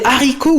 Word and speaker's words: haricots: Par contre, on doit dire les haricots ou la honte en faisant une pause et en prononçant le H aspiré.